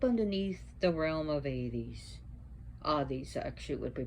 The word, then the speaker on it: Hades: Hades actually would be pronounced Hades.